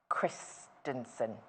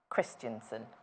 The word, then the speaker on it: Christensen: say the name properly of the lady Vanessa Christenson Christensen yes designed this one remember just say I